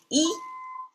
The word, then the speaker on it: 一: It's pronounced as E.